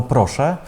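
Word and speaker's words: proszę: Або «проше», не вимовляємо «ем».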